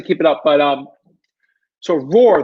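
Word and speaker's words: Roor: But so Roar, the reason why I'm saying Roar is spelled R-O-O-R. So maybe if you're looking, you're just like R-O-A-R, Roar. No, it's actually R-O-O-R. When I say Roar, some people get confused by that.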